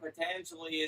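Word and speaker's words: Patanjali: can talk about the sutras of pangel pangelia how do you say it patangeli what why is it important and why do I need to know about it uh the yoga sutras of patangeli is important because patangeli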